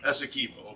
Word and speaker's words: Essequibo: This is Essequibo River, or Essequibo. I never do say it right. You say it right. Essequibo.